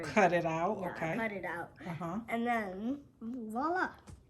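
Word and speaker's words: voilà: it out okay cut it out and then voila how okay so do you know what VOA means perfecta it's a French word and it means here it is if I remember correctly but it's pronounced voila and I'm glad you pronounced it he knows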